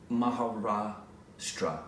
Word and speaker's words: Maharashtra: you say that uh I can't see it Maharashtra Maharashtra okay in interior Maharashtra a fisherman's son